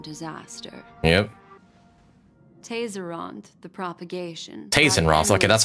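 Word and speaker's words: Tayzzyronth: Tazeront, okay, that's how you pronounce that.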